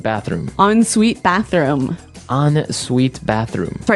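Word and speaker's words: en suite: UI t e so even though it's e n we pronounce it like an o n yep on Suite so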